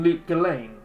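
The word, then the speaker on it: Lut Gholein: is highly unhelpful decade kane is in luke gallane it's how you know it's because it rhymes is he here is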